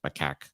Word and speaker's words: macaque: drawings of macaque monkeys that's how that is how you pronounce my CAC uh I ran around